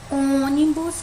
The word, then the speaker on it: ônibus: Aqui nós temos a palavra ônibus, que a gente já tá vendo que tem um acento circunflexo no O, né? Se ele é acentuado, então significa que essa é a sílaba mais forte. Então, eu vou fazer uma cruzinha aqui no O, né? E eu vou contar em que local essa sílaba tá, ó. Última, penúltima, antepenúltima. Ela tá na antepenúltima, então ela é uma proparoxítona, tá?